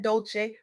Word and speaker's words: Dolce: Welcome back to the Soft Girl Era podcast hosted by Dolce, pronounced dol-say like sweet softness whispered in French.